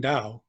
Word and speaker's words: Dau: The Dow Library, which is spelled D-A-U, the Dow Library and Archive at Historic Trinity Lutheran Church in downtown Detroit.